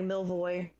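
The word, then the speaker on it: Milivoj: probably told about um if i have a hard time pronouncing that m-i-l-i-v-o-j it's probably something like melvoy that sounds reasonable to me so i'm gonna pronounce it that way and you were given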